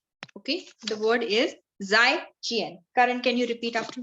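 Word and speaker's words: 再见: So the word for goodbye is called as Zaijian. Okay. The word is Zaijian. Karan, can you repeat after me the word Zaijian? Zaijian. So the pronunciation of Z will be J with dot wala, बिंदी वाला जो हम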